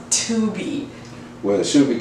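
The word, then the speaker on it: Tubi: uh streaming service called Tubby no Dad it's first of all it's pronounced tuby well it should be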